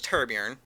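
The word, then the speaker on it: Torbjörn: His name's Torbjorn, but the way it's pronounced is Turborn.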